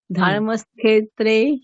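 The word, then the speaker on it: धर्मक्षेत्रे: হ্যাঁ, আপনি কুরুকের পরে একটু সময় নিন, ধর্মক, তারপরে মূর্ধন্য স্বয়কার বলুন, ধর্মক্ষেত্রে কুরুক্ষেত্রে।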